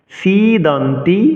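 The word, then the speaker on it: সীদন্তি: এজন্যই সি দন্তি মম গাত্রানি সিদন্তি সি দীর্ঘস্বর উচ্চারণ করতে হবে পরবর্তী অংশে যাচ্ছি মুখাম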